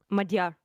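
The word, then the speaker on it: Magyar: Magar. Is that how you say it? Majar. Majar. It's Madar.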